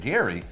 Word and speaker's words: GYRI: Gala has been working on their own blockchain dubbed Project GYRI, pronounced Gary, by the community.